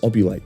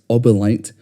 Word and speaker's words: Obelite: For example, the main currency of the game is obulite. Okay, so I'm editing the video right now and as it turns out, I slightly mispronounced the term. It's obelite, not obulite.